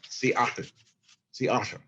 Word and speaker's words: Seattle: you say uh oh there's a gap between the uh and the o so it's a and then